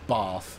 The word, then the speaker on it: Bath: you get castle and bath and all of that kind of behavior from it and yes it is car it is Bath um because that's what the people from Bath uh pronounce it as uh equally if you're